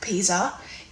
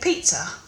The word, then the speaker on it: Pisa: Peter like Pisa well for starters I don't say it like Pisa um I say it Pizza and it might be different from American way of saying it I don't know how Americans say it but that's how I say it second question is